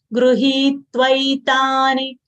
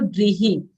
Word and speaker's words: गृहीत्वैतानि: Gruhitvaitani. Gru, half ga, full rishi is ru. So we'll say Gruhi, you can always pronounce it as Gruhi or Grihi.